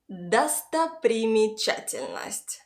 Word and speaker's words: достопримечательность: The stress falls on the syllable cha. So the stressed a gives a regular a sound. After, all unstressed o and a letters are very far from the stressed syllable and therefore are reduced and pronounced like an English schwa sound, And all unstressed y and e letters give a short I sound.